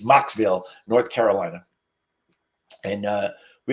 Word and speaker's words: Mocksville: I almost say it wrong every time it's Mocksville North Carolina and uh we have Farmland across